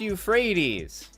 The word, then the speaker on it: Euphrates: but it's not Piccadilly its u freights bridge and you might say it's pronounced Euphrates I don't care this map